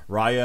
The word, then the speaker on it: Raya: talking about ray raya this is how you pronounce it now this is as i learned today raya and the last dragon uh wednesday we've got